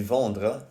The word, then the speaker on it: vendent: So always remember, even though the ENT ending is silent, the E in it will always affect the pronunciation of the letter that comes before it.